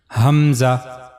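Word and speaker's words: ء: The origin of this letter is similar to the previous letter H. Hamza, the lowest part of the throat.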